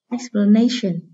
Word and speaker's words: explanation: Explanation. Từ này có hậu tố là tion, vì vậy trọng âm rời âm tiết trước tion.